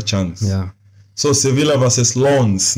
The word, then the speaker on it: Lens: So Sevilla versus Lens. Nisikia pronunciation ni Lens. Anyway, tuko Kenya ni Lens. Ni Lens. Yeah, so, but si lens ya kamera.